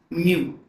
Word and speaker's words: μ: एक होता है हमारा इसे हम बोलते हैं म्यू। प्रोनाउंसिएट करेंगे तो क्या बोलेंगे? म्यू इसे हम बोलते हैं परमी पिटी।